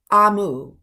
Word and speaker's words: Amu: a note to the reader that amu is pronounced amu and it is an igbo term for the